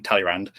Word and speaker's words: Talleyrand: There was a government that was set up by, I'm just going to use the English pronunciation, Talleyrand, who defected from basically